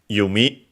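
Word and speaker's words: 弓: Yumi. Pretty sure it's accent. It's either accented on the last one or unacented.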